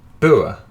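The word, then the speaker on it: boer: This is is it pronounced Ber? I think it is, which is apparently Dutch for farmer, which I was told last week.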